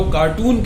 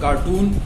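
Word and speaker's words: carton: Cardboard के डिब्बे को, that is नॉट कार्टून, that is कार्टन। Cardboard का बना हुआ चौकुटा डिब्बा जिसमें सामान पैक होकर आता है, that is कार्टन, नॉट कार्टून।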